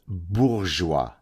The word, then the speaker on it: bourgeois: First of all, it's called bourgeois, right? It's bourgeois. Learn how to pronounce a French word before you pontificate like the idiot that you are.